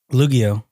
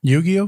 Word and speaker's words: Yu-Gi-Oh: That one, Spongebob, and Lugio, I think I'm saying it right. Yu-Gi-Oh. Lugio. Yeah. Okay. Repeat it again.